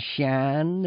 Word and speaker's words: Sian: Sian, Shan is S-I-A-N, which is a female name in Gaelic.